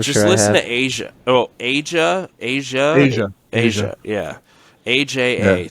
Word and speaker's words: Aja: stuff yeah I'm just listen to Asia oh Asia Asia Asia Asia yeah Aja that's how you spell it okay they've been sampled a lot by